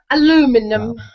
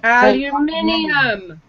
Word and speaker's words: aluminum: that's the other one aluminum aluminum aluminum aluminum orinal not you guys aluminium yeah you guys say aluminium that is not correct it's aluminum aluminum was the original aluminum was the original pronunciation aluminium anal say say